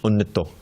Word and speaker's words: anitya: my material, my annita asha, annita means anitya, but in Bengali pronunciation, annito, means unending.